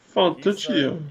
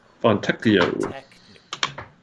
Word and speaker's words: Fontecchio: Fontecchio. He's the shooter they need. I mean, they keep trying to go after players that can't shoot. I know, that's not how you say it. Fontecchio.